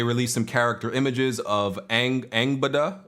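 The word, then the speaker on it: Angrboða: And they released some character images of Angbada. I think that's how you say her name. The R is supposed to be silent, I was told. Angbada, which I don't think this is spoilers.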